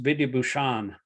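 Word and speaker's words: Vidyābhūṣaṇa: Yeah, it's pronounced Vidyabhushan. The okay. S with a dot underneath it is the SH.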